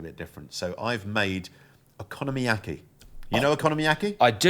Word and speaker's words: okonomiyaki: Okonomiyaki. I had think economy. Is that what you pronounce it? No, I think Okonomiyaki. So think economy, but then economy. Okonomiyaki. And then yaki.